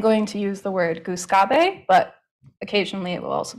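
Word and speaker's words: Gluskabe: So I am more used to saying goose gobe instead of goose gob.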